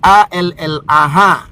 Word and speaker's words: Allah: Ditransliterasi ke bahasa dengan huruf Latin dalam bahasa Indonesia, jadilah A-L-L-A-H. Bacaannya apa Bang Dio? Bacaannya Allah. Bukan Allah, tapi Allah. L-nya 2.